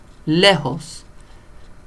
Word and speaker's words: lejos: J, and it sounds like an H. So I don't know what the thinking was behind that. But Julio, lejos.